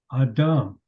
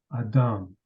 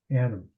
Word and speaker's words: Adam: hence he was you received the name Adam as commonly mispronounce it Adam are you following me